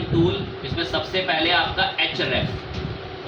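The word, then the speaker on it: Ahrefs: इसमें सबसे पहले आपका एच रेफ ये साइलेंट है उसमें बहुत मशहूर है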